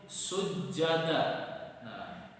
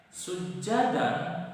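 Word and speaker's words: سجدا: Contohnya dari mad iwad itu sujada. Nah, sujadan dibaca sujada.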